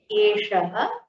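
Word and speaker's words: एषः: Next is Eshaha, Eshaha. Notice the difference in the pronunciation of this Shakara and this Shakara.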